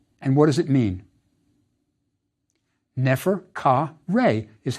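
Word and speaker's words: Neferkare: honorific placement for the God how is it pronounced and what does it mean nefer c Reay is how it sounded it means the beautiful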